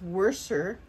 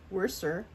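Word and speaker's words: Worcester: is a uh now I always have to think when I pronounce this it's worser worser um Royal worser uh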